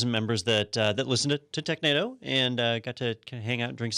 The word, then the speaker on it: Technado: Is it pronounced Technado? Technado.